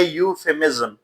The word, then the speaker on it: euphemism: سب سے پہلے جو لفظ ہے اس میں یہ جو ای ہے یہ سائلنٹ ہے, تو صحیح تلفظ ہے یوفیمزم.